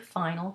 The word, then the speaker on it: fin: So for example, if you have the adjective fin, you have F-I-N, the N is not pronounced because it's in word final position, but the I in front of it becomes nasal into the sound fin.